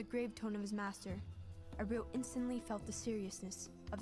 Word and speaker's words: Aaru: Okay, so it's pronounced Aaru, not Aru.